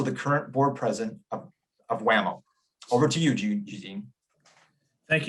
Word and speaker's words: WMAO: The acronym, of course, WMAO, is affectionately pronounced WAMO by those who are in the know, so WAMO.